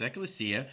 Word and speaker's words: ecclesia: okay so let's look at strong's concordance g1577 pronounced ecclesia the definition as follows a calling out that